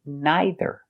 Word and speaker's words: neither: Some people say neither, and some people say neither. Some people say either, and some people say either. All of it is correct. Personally, I say either.